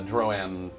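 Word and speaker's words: Droaam: It's a Droam. Stop it. It's pronounced however I want to pronounce it.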